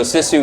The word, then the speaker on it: Sisu: Yeah, so Sisu, it's however you want to pronounce it. I think Sisu is probably more correct. Everyone just says Sisu, so we've kind of just rolled with Sisu.